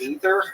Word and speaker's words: Aether: It's actually pronounced Ether and I was like I just call it Aether instead.